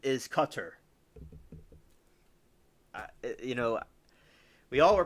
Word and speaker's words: Qatar: And they say Qatar, but the pronunciation is cutter, you know.